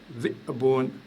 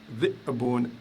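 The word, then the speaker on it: ذِئْبٌ: Le loup, par exemple, se dit dhi'bun, dhi'bun, je fais un coup de glotte. Dhi'bun, dhi'bun.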